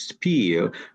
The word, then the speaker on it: spiel: And thank you for the right pronunciation in English, spiel.